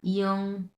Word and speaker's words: 影: 影音 এটা ইং না, ইয়ং।